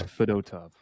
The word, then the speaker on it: Fedotov: or whatever fedotov fedotov fov sounds better but apparently it's fedot tough yeah um when you